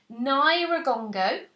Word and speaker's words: Nyiragongo: a really interesting volcano so it's pronounced Nyiragongo and it's in the Congo which is broke now